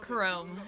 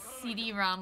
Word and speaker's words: Chrom: then you saved us Chrome's name is pronounced Chrome and not CD ROM like Chrome okay chome there we